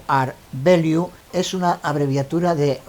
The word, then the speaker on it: rvalue: en este ejemplo un ere de liu pronunciado art de liu es una abreviatura de